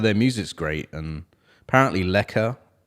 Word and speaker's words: lekker: But their music's great, and apparently Lekker. I don't know if you say Lekker, how it's pronounced. So Lekker. I was saying it.